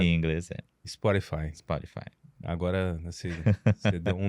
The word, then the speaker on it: Spotify: Spotify. Spotify. É assim que se pronuncia, esse é o correto. Em inglês Spotify.